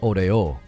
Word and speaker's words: Oreo: my korean friends have taught me how to say oreo it's odeo and then mcdonald's is mcdonald's like mcdonald's they like they hit more syllables for mcdonald's and oreo and they're the thing that americans always want to do is we want to accent stuff oreo and it's like no it's odeo like it's just like there's